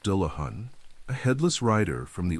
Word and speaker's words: Dullahan: This is the tale of the Dullahan, pronounced Dahan, a headless rider from the old countryside of Ireland.